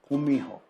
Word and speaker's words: Gumiho: But it's not really a hard G or a hard K. It's like a combination of the two, Gumiho.